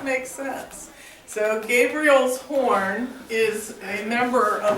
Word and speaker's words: Gabriel: all right so this Gabriel's horn not gra Gabriel not grabriel Gabriel's horn is the